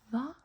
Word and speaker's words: hva: We don't pronounce the H when there's a V coming after the H. So, since there's an H and then a V, we just ignore the H and say the V.